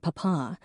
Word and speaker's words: papa: She was extraordinarily polite and called their parents mama and papa with the emphasis on the second syllable.